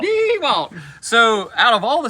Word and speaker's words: DeWalt: DeWalt. DeWalt.